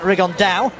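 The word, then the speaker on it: Rigondeaux: talked about fighting riondo as he's correctly pronounced with the Spanish accent rigon da and two absolute Geniuses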